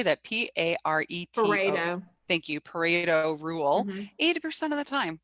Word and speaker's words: Pareto: how do you say that p-a-r-e thank you pareto rule 80 of the time we're just trying